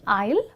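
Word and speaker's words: aisle: सा कन्फ्यूजिंग है क्योंकि इन the word आइल द एस is silent which means S को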